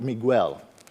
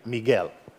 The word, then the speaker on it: Miguel: name because it's not Miguel so just try to use a hard G like in gas or gas and then you will pronounce perfectly Miguel that's all okay so